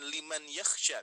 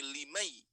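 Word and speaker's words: لمن يخشى: Tapi dibacanya bukan liman yakhsha, tapi limai, langsung memasuki ke huruf ya-nya. Liman yakhsha.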